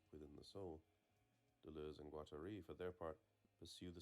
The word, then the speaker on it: Guattari: Pretty sure Guattari rhymes with Atari. No, Guattari. Unless you're saying it Atari. Like a French person would say Atari.